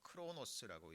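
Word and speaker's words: χρόνος: 크로노스라고 읽습니다.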